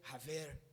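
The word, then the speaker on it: חבר: O termo hebraico é se escreve chaver no português, mas acredito eu que a pronúncia é haver.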